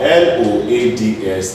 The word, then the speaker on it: loads: If I have L-O-V-E-S, this is pronounced as loves. It turns to Z because it's V, and V is the voiced sound.